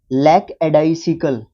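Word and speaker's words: lackadaisical: लैक एडाइसियल, एडाइसियल, एडाइसिकल, लैक एडाइसिकल, है ना, ये है पूरा इसका प्रोनाउंसिएशन।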